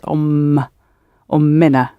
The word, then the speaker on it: أمنا: أمنا We need a little helping vowel. Mahmoud, the pronunciation, can you show us? أمنا It's like أمنا bintina, because it ends in two M sounds. Ummina, li ummina.